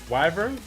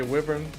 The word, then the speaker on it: wyvern: Well, I'm saying how do you pronounce that though? Wyvern. Is it really Wyvern? Okay. Some say whippon.